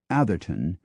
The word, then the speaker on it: Adwalton: Adwalton, West Yorkshire, is sometimes pronounced Atherton because the town was formerly called Heathertown.